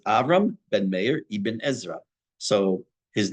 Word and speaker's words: ibn Ezra: said this before it's a pet peeve of mine that people say Evan asra it's that's that's that's as bad as saying my name is instead of it's it's not the